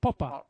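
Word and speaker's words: Popper: هو اصلا ن مساوي ف تنطق بالانجليزيه بوبر لا لا هو اسمه الماني ليس انجليزي هو بوبا كساوي نمساوي له له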